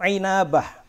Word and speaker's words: Inabah: Kelima, Ibnu Inabah. Inabah. Inabah bahasanya. Bacanya jangan ambah, tapi inabah.